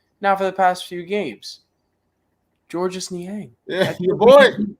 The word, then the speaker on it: Georges: for so long it's just dude dustin is pronounced george his name is georges we got we got some nian controversy on